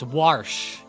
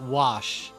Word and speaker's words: Warsh: And yes, it's Warsh, not Wash. Warsh.